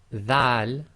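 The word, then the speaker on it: ذال: Now this Dhal, be very careful of the pronunciation, should be the, as in the English word the, as the old English word the.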